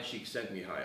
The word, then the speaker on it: Csikszentmihalyi: Can you pronounce that name again? Mihai Csikszentmihalyi.